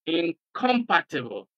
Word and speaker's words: incompatible: Incorruptible in incompatible the prefix and stress the next syllable after the prefix for example the prefix here is inor inor corruptible in incompatible incompatible of course because compatible